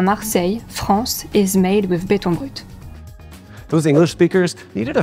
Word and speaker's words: béton brut: I don't speak French, so I'll let a native speaker pronounce the original phrase. Béton brut. Béton brut. Béton brut.